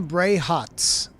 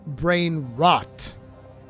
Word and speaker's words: brain rot: He said Italian brain hots, and I was like, the fuck? And it's Italian brain rot. That's what it is.